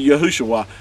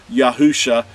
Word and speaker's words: Yahusha: do they have it why does why does he have it translated to yahushua it's because it was vow pointed uh in order to get that pronunciation and so I'm bringing that out again stressing to you that uh even a third grader could understand that if you put yahweh's name and Yasha together you have yahusha not yahushua so with